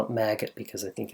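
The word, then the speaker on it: Magit: like to call it maggot because I think it's kind of cool but it's probably pronounced magic or something that rhymes with magic it is really nice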